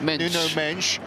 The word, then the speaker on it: Mendes: for our Portuguese listeners we do know it's pronounced noo mench but for our general